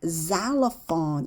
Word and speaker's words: xylophone: 그리고 앞에 나올 때 실로폰 있잖아요. 걔가 xylophone 이렇게 발음이 돼요.